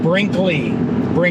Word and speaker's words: Brinkley: It's called Brinkley, exactly how it sounds.